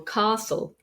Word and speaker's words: castle: was pronounced often because we have words with a t in the Middle where the t is not pronounced for example Castle mortgage listen but if you want